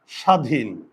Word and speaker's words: স্বাধীন: উচ্চারণ হয় না ওকে যেমন স্বাধীন স্বাধীন দেখো এখানে ব আছে তাই না ব ফলা আছে এখানে ব আছে আছে কিন্তু ব এর উচ্চারণ হয় না দেখেছো তাহলে ব আছে